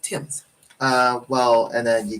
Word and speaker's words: Thames: like take the t-h-a-m-e-s looks like Thames is pronounced Tim's uh well and then you got um uh